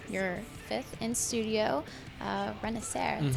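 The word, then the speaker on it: Renacer: it is it is it's confusing don't if you try to say it phonetically it's not going to work out so yeah renaer that's it okay how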